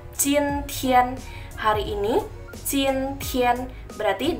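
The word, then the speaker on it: 今天: Hari ini, dalam bahasa Mandarin kita bacanya adalah jin tian.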